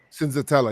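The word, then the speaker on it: Senzatela: Cinzatella, yeah.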